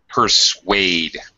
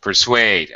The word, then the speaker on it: persuade: is the parachute or how can I pronounce it persuade there's a w sound pers persu mhm pers suade I mean in other